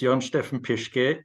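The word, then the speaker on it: Jörn-Steffen Pischke: by name uh Dr Steve pishy uh Dr pishy thank you so much for being on the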